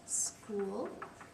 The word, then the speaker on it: school: School is spelled kind of funny, that S, but the CH is making a K sound.